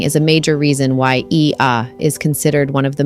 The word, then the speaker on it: Oia: OIA, pronounced Ia, sits on the northwestern tip of Santorini, perched dramatically atop the caldera cliffs.